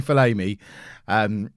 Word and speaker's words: Falami: Striker problem number 1 is that Falami, and there's still people in the chat every day trying to tell me it's pronounced Falami. I've had it confirmed. It's definitely Falami.